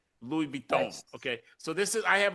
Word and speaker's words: Louis Vuitton: LV is for, I want to get this pronunciation correct because I often hack it. I'm Detroit Public School. So this is Louis Vuitton. Louis Vuitton.